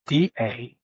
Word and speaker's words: Dannah: It's not like the regular Dana, Dana. It's Dannah.